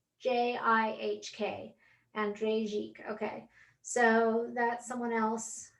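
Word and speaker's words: Jikh: i i highly recommend andrei jeep too so that's spelled j-i-h-k andrei jike okay so that's someone else that you might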